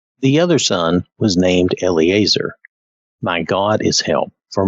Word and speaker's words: Eleazar: From what I could find quickly, it seemed like Eleazar was the correct pronunciation. There was another pronunciation that was Elazar. I'm not sure that it matters that much, but I think Eleazar is probably correct.